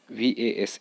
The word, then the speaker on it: vase: flowers in the vase vase is pronounced as was now this is